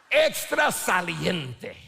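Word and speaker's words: extrasaliente: with extra saliente okay if I cannot see your teeth when you say this you're not saying it right extra saliente there we go a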